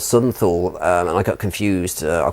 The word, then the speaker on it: Thule: The very bottom one of those is an island called Southern Thule, which is spelled Thule, but I think in German is pronounced Thule. Thule.